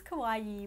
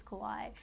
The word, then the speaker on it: Kauai: They say it's Kauai, but everybody says Kauai. So then you feel like an idiot for saying Kauai.